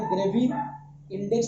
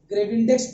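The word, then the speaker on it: Gravindex: तो ये जो टेस्ट परफॉर्म करते हैं इसको हम लोग बोलते हैं ग्रेविंडेक्स टेस्ट या ग्रेविंडेक्स टेस्ट, जिसको हम लोग बोलते हैं ग्रेवी इंडेक्स टेस्ट बोलते हैं या ग्रेविंडेक्स टेस्ट बोलते हैं।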